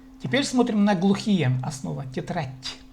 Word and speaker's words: тетрадь: Тетрадь. Хоть и в русском языке по-русски мы пишем д, но тем не менее произносится т. Тетрадь.